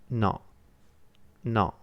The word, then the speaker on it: no: It's more similar to not than it is to no. It's pronounced no, no.